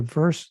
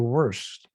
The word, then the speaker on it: verse: It's not the verse, the worst. No, it's a verse, not a worse.